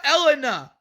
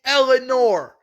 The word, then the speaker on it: Eleanor: Her name is not Elena. Her name is not Elena. It's Eleanor. If you're gonna say the names of the characters, say it right.